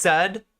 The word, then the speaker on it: Zed: If you haven't heard of Zed, is how it's pronounced. I was pronouncing it right.